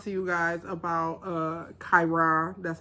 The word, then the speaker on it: Chiron: want to talk to you guys about uh kyra that's how you pronounce it uh this retrograde that we're having